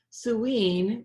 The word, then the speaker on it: Samhain: We're talking about Samhain, which is spelled Samhain, which is All Hallows Eve, last night.